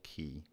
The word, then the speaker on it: qi: the flow of qi it is often spelled Qi or CH apostrophe I and is pronounced as Chi or Ki some of the names